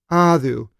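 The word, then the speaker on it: ᾅδου: Basically, the things that they were doing was causing them to be finally killed and sent unto Adu, is the Greek pronunciation, and we have Hades in English, Adu.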